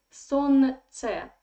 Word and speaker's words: солнце: So we write солнце, but we say солнце. This L is silent, okay?